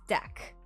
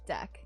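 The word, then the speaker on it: deque: So it's pronounced deck.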